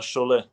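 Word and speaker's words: Šiauliai: make any mistakes there it's basically the same as uh the french french club chole ah okay that's how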